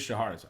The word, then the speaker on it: Shahrazad: talked about Shahrazad, and yes, guys, that's how you normally pronounce it. Wizards chose to spell it in a pretty strange way. Look up the literary character. It is Shahrazad.